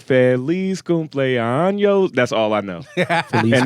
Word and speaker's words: cumpleaños: It's like, Feliz cumpleaños. That's all I know. And they just start going off how you into pronounce it? Feliz cumpleaños.